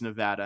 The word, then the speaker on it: Nevada: It It is Nevada. I've been told emphatically by that eventually by locals here in my in my home for the last six years of Vegas that it is it is Nevada have been corrected as such.